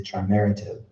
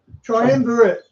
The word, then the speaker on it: Triumvirate: ICC policy would be dictated by a group of 7 mobster families known as the Triumvirative. Wow. Did I not say it right? Triumvirate. Triumvirate, thank you.